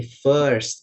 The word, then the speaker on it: first: Yang tadi fierce itu bukan fierce tapi first bacanya ya.